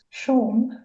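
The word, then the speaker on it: Siôn: support me who was called sea but it's spelled SI o which is the Welsh for John it's the Welsh version of John but he said that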